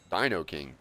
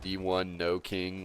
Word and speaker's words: Dino King: You're the first person to correctly pronounce my username first try. Heck yeah. First try out of like dozens. That's crazy. It seems simple enough. Dino King. Duh. Or they just say like D1 no king online.